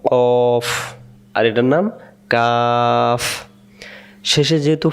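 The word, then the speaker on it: كاف: এখন আমরা কফ এবং কাফের উচ্চারণ দেখব।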